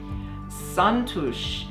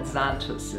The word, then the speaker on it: Xantus: is now the smithsonian santosh is how you pronounce it in hungarian but we call it zantos hummingbird when the light hits